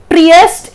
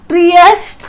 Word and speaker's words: Trieste: The venue is Trieste, Italy. That's how we pronounce it. Trieste, Italy.